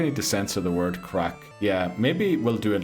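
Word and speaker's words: craic: Crack is whack. Yeah, but it's spelled C A C C R A I C.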